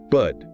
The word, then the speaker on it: bird: The vowel sound is like in the word her. So, it's good. Ah, not like beard. No, definitely not beard. It's bud. And again, that R is silent.